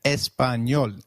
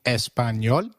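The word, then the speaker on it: español: ah as in father did you notice the letter enye in Espanol this letter is peculiar to Spanish it is pronounced as knee like in Canyon so can you try saying Espanol it is called espanol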